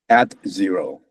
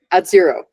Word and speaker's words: AdXero: At zero. At zero. With an X. Yeah. Okay. Oh, so you swallow the X.